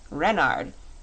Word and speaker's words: Renard: name is King Renard ivth Renard with the accent on the ren what's Ren asked button